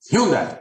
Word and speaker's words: Hyundai: and Kia Hy hyi Hyundai H as Jason Bon H that's how they say it in Australia we're not in Australia are we it's h like Sunday n anyways Nike n uh but yeah they're